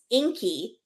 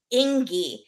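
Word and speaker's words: Ingi: her boyfriend's name is Inky and the sister starts calling him Ingy because it's spelled i n GI but the G is pronounced like a k and so Fanny the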